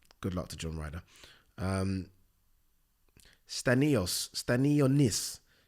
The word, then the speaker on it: Stanionis: Stanionis. How do I pronounce this guy's name? Stanionis.